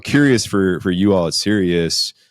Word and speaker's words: Sirius: And it's spelled different. It's spelled like the star, like the radio Sirius radio. It's not spelled like serious, like I'm very serious, but seriously, why so serious?